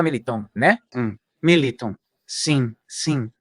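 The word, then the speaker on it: Militão: Olha, é verdade que se pronúncia Militon, né? Pergunta pra Ana Paula se fala Militon, né?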